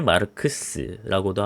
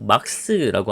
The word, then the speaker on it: 마르크스: 사회주의라고 하는 건 사실 칼 마르크스라고도 하고 막스라고 하는 게 훨씬 더 맞는 발음인 것 같습니다.